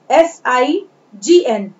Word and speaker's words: sign: Then sign, SIGN, G is a silent letter here, we will read it sign, sign।